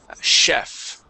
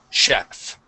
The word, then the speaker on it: chef: Let's go to the word chef. Okay, the CH is pronounced like an SH here. Chef.